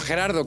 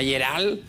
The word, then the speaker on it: Gerardo: vamos a cambiar por Gerardo que ustedes aquí Gerardo y mi suegra no lo sabe pronunciar muy bien me llama gerald algunos me llaman gerald